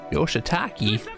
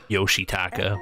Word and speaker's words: Yoshitaka: we'll find out shortly yoshitaki that's not how you say that hey Dad where have you been do you know how late it is young man yoshitaka by the way I'm